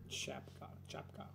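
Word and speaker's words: czapka: Next is the combination of c and z, and you should pronounce it as ch. Chapka. Ch. Like ch. Chapka. Chapka. Ch.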